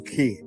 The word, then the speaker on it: Quay: So let's go check out Circle Quay. And it's spelled differently too. So I'll show you how it's spelled. So you're not like, where's K-E-Y?